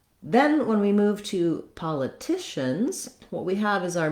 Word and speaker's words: politicians: So political, but politicians. So I don't want to stress that with a lot of length. I just use the clear vowel, and then my length comes on the tish syllable. Again, we have a schwa here or an I sound, pala or politicians. The letters CI say the SH sound, the sh sound.